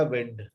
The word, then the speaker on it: wind: WIND लिखा तो ये नाउन है, तो इसको पड़ेगा विंड। विंड।